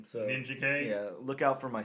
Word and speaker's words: Ninjak: with the release of ninjak super Killers Bob do you pronounce it ninjak or ninja K ninj okay I do too